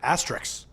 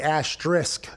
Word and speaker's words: asterisk: actually so the last the end of it is supposed to be like risk like the game or the feeling so it's supposed to be asterisk i guess i say